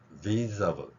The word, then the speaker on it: visible: 그 다음에 S에 해당하는 단어 Z 발음입니다. 자, 영어의 Z 발음. 그래서 visible, visible, visible.